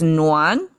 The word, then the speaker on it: 奻: It's pronounced as no one. I have to check up a dictionary because just by itself, it's this doesn't sound like new exactly, right?